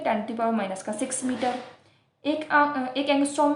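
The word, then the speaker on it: ångström: आर जो है वो साइलेंट रहता है यहाँ पे, तो हम उसको बोलते हैं एंगस्ट्रॉम।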